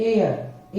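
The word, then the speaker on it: heir: एच आने की वजह से हम एच को साइलेंट कर देते हैं और एच ई आई आर का प्रोनंसिएशन होता है एयर एयर एयर का मींस होता है उत्तराधिकारी हिंदी में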